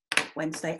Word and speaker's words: Wednesday: thing to do is to say it in three syllables wed nests and date but it's Odin's day today Wednesday and that's an example